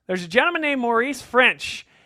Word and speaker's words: Ffrench: But there's a gentleman named Maurice Ffrench, and yes, that's spelled French. F-F-R-E-N-C-H. Bonjour, as it were.